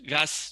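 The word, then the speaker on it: Gus: stuff, you know, and Gas, you know, in Spain we say Goose, you know. In Spain we say Goose, but in English they call Gas, you know. So for me it's Goose. Of course.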